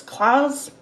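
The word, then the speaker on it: Claes: dracula netflix cast um oh how do you pronounce that claire's claws c-l-a-e-s please please bang his last name is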